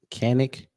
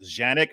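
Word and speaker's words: Canik: it's it's a can it's actually pronounced janic because it's manufactured in Turkey it's what the Turkish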